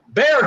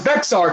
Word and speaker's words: Bexar: ] research but again calling itb illiterate when he can't pronounce bear county instead says bexar county so that's what but